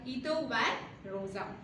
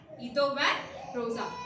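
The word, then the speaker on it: Guido van Rossum: It is developed by Ito van Rosa in 1985 to 1990.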